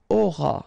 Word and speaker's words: auras: All right, then tu auras. Final S not pronounced.